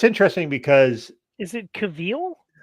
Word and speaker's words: Cavill: It's interesting because is it Cavill? Cavill is how it's pronounced.